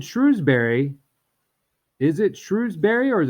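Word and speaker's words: Shrewsbury: stretch out that second syllable if you said Shrewsberry is it Shrewsberry or is it shrewbury properly pronounced it's shrewbury my wife works in one of these it's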